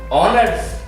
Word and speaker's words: honors: That is a sentence also because there is a O and H is silent.